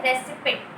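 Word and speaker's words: receipt: उससे रिलेटेड आपको एक रिसिप्ट मिलती है ना, उसको लोग बोलते हैं रेसिपिट। रेसिपिट नहीं, उसको रिसिप्ट बोलते हैं। उसमें पी जो होता है वो साइलेंट होता है।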